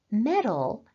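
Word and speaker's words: mettle: verb means to interfere metal as a noun means the ability to handle difficulties and both of these words sound like metal m t l so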